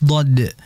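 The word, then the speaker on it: ض: samping pinggirnya pinggir sini Nah itulah pengucapan huruf dad yang di mana samping ini kalau sejajar dengan gigi di bagian atasnya itu adalah gigi Graham Nah jadi J seperti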